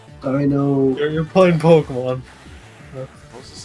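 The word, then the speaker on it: Deino: I always thought it was pronounced Dino. There's like several different pronunciations. But yeah, it's Dino.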